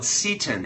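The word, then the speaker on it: seitan: try this stuff out spelled s e i t a n it's called ctin it's a wheat gluten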